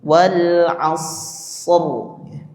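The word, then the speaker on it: والعصر: Wal asr. Dia tetap dibaca tebal. Kadang saya juga mendengar di Al-Qadar itu bacanya tipis karena huruf dal.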